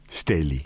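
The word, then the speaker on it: Stähli: Stalli, porque la A de Stalli tenía diéresis y se pronunciaba como E. Yo tengo más de 70 años, tengo 71 años, y cuando yo era chica, eran los Stelli, la familia.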